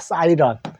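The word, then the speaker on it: siren: 렌이라는 소리가 나오는데 영어에서는 렌이라고 읽지 말고 어를 읽어요. 그래서 사이런이라고 합니다. 사이런. 사이렌, 사이런.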